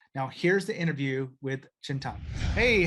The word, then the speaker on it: Chintan: Chintan? Yes, that's the correct pronunciation.